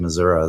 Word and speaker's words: Missouri: They tried to correct me when I said Missouri. That's the correct, that's the indigenous way to say it.